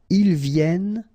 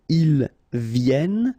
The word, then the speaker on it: viennent: And then ils viennent. So remember, as usual in French, when we talk about conjugation, E-N-T at the end, you don't pronounce it here.